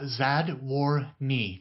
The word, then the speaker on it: Zadworny: your last name uh zad War knee just like it's spelled sad wordy yeah sad